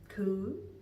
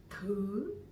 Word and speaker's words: thứ: learn this topic today is thứ. Thứ. Thứ. Dấu sắc, okay?